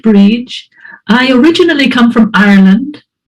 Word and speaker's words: Brid: ahead yes okay so my name is Bridge it's pronounced bridge I originally come from